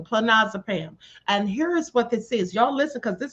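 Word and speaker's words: clonazepam: So, it's pronounced Clinazipam. Clinazipam, spelled C L O N A Ze P A M. Clinazipam.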